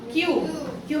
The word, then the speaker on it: queue: क्यू की spelling yes, QUEUE, इन अ क्यू मने straight line. तो क्यू जो है, क्यू का हमने कल भी बताया था, टोल्ड यू कि क्यू, सिर्फ क्यू भी उसी की, उसका प्रोनाउंसिएशन क्यू है. यूई लग गया तो भी क्यू है.